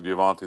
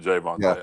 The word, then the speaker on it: Jayvontay: guys step up like jvonte there it's Jayvon yeah so um Jayvon am I saying his name wrong yeah Jay like a man's name vonte jvon not G vonte but Jay vonte okay gotta it's all